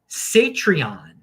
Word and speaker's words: Satreon: And here we got something called Satreon, which rhymes with Patreon, is a non-custodial Lightning version of Patreon and similar to y'all's and other paywalls.